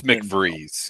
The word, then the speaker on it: McVries: How do you pronounce the last name? Because when I read it, I pronounce it differently. It's McVries. Yeah.